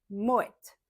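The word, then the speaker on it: Moët: Moette. Normalement en français, on ne prononce pas le t final mais dans ce cas-là et ben oui, on le prononce.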